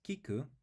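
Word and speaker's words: 聞く: we write key and then C so the pronunciation is Kiku and it means to hear or to listen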